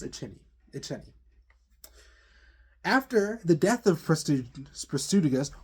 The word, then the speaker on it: Iceni: Excuse me, it is pronounced Iceni.